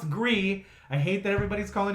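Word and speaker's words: Gris: that game agree the gr is but it's pronounced agree I hate that everybody's calling it grease and Grizz because the developers have said well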